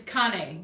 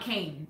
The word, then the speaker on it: Cane: so it's Connie not Cain it's not Cain Cain is you know a walking cane it's what people it's it's ca any it looks like it's spelled that way but it's pronounced Connie and if you if